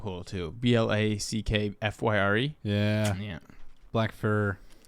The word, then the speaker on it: Blackfyre: Black fur. Fear like a pyre.